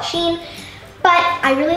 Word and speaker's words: Shein: I mean, nobody really knows how to pronounce it. I call it Shein.